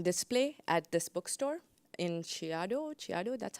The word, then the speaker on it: Chiado: work that's on display at this bookstore in Chiado gru that's how you say it Chiado and this project is called undelivered mail and